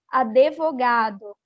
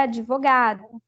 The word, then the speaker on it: advogado: pronúncia das palavras mesmo por exemplo falar advogado e quando na verdade é advogado Tá certo nem o